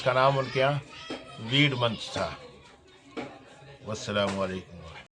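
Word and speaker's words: Weodmonath: اچارن منتھ کرتے تھے۔ تو WEOD مناتھ، جس کا تلفظ ہوتا ہے ویڈ منتھ، یعنی ویڈ منتھ جو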